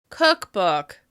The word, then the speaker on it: cookbook: Can you hear which syllable is stressed more in that word? Cookbook. Cookbook. Cookbook. As you can hear, the first syllable receives the most stress, which means that the vowel sound is going to be longer, louder, and higher in pitch with extra clear mouth movement.